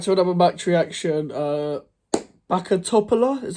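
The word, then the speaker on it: Bačka Topola: welcome back to another mat reaction uh bakat toopa is how you pronounce them uh Neil West Ham United one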